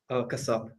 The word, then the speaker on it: Kasap: Is your last name pronounced Kasap? Kasap. Kasap?